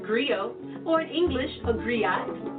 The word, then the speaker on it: griot: I want to share that history with you agree oh it's pronounced griot or English agree eyes it's the West African